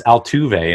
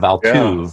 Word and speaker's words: Altuve: Yeah, or learning how to pronounce Altuve instead of Altuve.